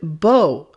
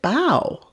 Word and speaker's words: bow: the pronunciation for example the word bo or is it bao bao can be an intransitive or a transitive verb but the sound changes when it becomes a noun bow bow a bow used with